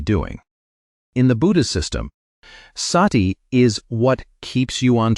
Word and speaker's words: sati: Sati, say it like sashti, does not mean what you have been told.